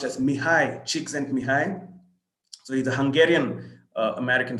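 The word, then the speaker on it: Mihaly Csikszentmihalyi: looks like and that's what that name is pronounced as mihai cheeks and behind so he's a hungarian american psychologist so these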